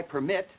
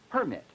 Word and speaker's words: permit: we couldn't make the contrast for instance between uh I permit and one permit in other words the word permit is a noun but in I permit where the primary stresses on the second syllable this turns it into a verb permit permit two different words